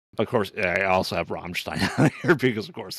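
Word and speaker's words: Rammstein: Um, of course, I also have Ramstein on here because of course I'm You got to say it like that. That's how he says it. Soundtrack is amazing. Roll the R.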